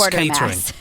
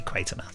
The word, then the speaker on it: Quatermass: is- at it is and I see mass Quartermass. Some people do say Quatermass, and in some of the actual episodes they say Quartermass or Quatermass. That everyone pronounces it differently, but generally it's meant to be Quatermass.